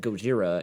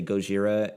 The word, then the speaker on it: Godzilla: about really quickly today Godzilla is actually how you're supposed to pronounce what is it godilla Godzilla you hear that goira in that movie but in Japan oh phonetically in Japan it's phonetically Godzilla Godzilla so we Americanized it in Kore while trying